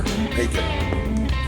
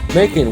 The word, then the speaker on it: Macon: Macon. Macon, which rhymes with bacon, which means there's probably no Jewish people there.